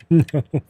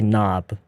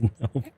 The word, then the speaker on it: nope: You say nope. You say it like this. You shouldn't say knob. That's knob. This is nope.